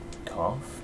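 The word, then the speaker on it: Gough: His name's Hawkeye Cough, maybe? Like, it's still a GH at the end, but it's pronounced differently than Smough, I think, which I find odd.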